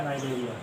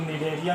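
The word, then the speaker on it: Cnidaria: तो हेडिंग हम लगाएंगे संघ सिलेंट्रेटा या नाइडेरिया। संघ सिलेंट्रेटा या नाइडेरिया, इसी को कुछ लोग निडेरिया भी पढ़ते हैं। फाइलम सिलेंट्रेटा और नाइडेरिया, सी साइलेंट रहता है।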